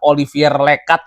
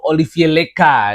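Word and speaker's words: Olivier Lecat: jadi pelatihnya Santor Sbers walaupun namanya Olivier Lekat itu bacanya tuh Olivie Leka gitu ya. Itu adalah pronunciation Prancis. Huruf konsonan di belakangnya enggak dibaca.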